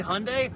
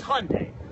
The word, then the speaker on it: Hyundai: how to pronounce Hyundai the guy who is the vice chairman of Hyundai he told me how to pronounce Hyundai if he runs the company and he says say Hyundai well guess what it's Hyundai done with that topic